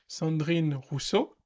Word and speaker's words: Rousseau: make any sense uh but her name is Russo and that's how you pronounce her name and she she's basically has